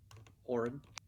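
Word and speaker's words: Auran: uh uh ericocra and then uh is it pronounced arun a-u-r-a-n as well oren warren there you go so the the our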